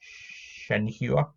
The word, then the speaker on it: Shenhua: you've got shenhua and that's how you say it shenhuah but it is a